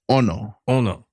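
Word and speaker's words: ʻono: Ono Ono yeah so this one has a okina at the beginning of the word and it's just like a um an accent so when you say the word you're going to have kind of stress the the O so you're going to go Ono Ono yeah so Ono means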